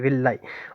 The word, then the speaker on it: villi: ठीक है, विलाई भी समझ आ गया होगा, स्पेलिंग है VILLI, VILLI, विलाई।